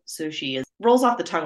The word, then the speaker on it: Cixi: to pronounce in English it's spelled cixi which is not something that English speakers come across too often I understand it's pronounced Sushi well when I was first researching it the one of the websites told me it was sichi that was kind of what my brain went with So Sushi is rolls off the